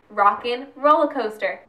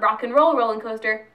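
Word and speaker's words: Rock 'n' Roller Coaster: coaster stay with me rockin roller coaster not rock and roll rollin coaster rockin roller coaster yes I am going to make sure you pronounce it right because it's a pet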